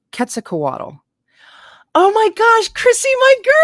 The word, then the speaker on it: Quetzalcoatl: Quetzalcoatl. I think that's how Steve's was showing me with his letters that that's how you say it. Quetzalcoatl.